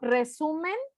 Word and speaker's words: resumen: Sí sigue siendo resumen, sigue siendo la sílaba tónica, porque digo resumen, no digo resumen, o no digo resumen, digo resumen.